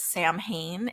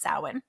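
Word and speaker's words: Samhain: as and pronounced as Sam Hayne It's s m ha a I but it's actually pronounced sawin this is celebrated on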